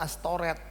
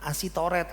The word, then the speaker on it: Astoret: Kita suka baca Alkitab Asyera, Astoret. Jangan baca Asi. SY itu bacanya SH. Gitu ya. Asyera dan Astoret. Bukan Asitoret, Asira, bukan ya.